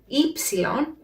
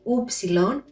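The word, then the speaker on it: ύψιλον: i should also mention the letter ipsilon as you can see it didn't say oopsilon and that is because it produces the sound e not the sound oo for the sound e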